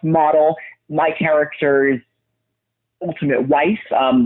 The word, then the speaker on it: Motel: it's spelled m-o-t-e-l like motel but it is pronounced model my characters ultimate wife um love interest her